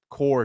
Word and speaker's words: corps: So, it's spelled C O R PS. So, the Marines mess this up. Well, it is core still, but it's like Yeah.